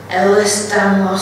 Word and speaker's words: Ehlers-Danlos: So now we move on to, it's a bit of a gobsle, took me some while to learn how to say it, Ehlers-Danlos syndrome.